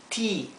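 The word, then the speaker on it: tea: e se pronuncia I la ea se pronuncia idénticamente y por ejemplo eat que significa comer te que significa t Beat que significa vencer a alguien o también significa golpear bien o sea se pronuncia como una I larga I vamos a poner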